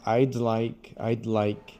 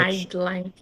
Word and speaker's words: I'd like: You need to push the D. I'd like. Your tongue has to touch. I'd like. Yeah, your tongue has to touch up on the roof of your mouth.